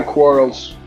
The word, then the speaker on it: Quarles: Yeah, Quarles.